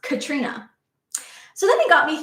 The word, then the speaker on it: Caitriona: But the thing is, her name is spelled Caitriona, and it's pronounced Katrina.